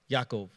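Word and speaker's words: יעקב: they say Lavon like Jacob is actually uh yaakov in Hebrew or the way it's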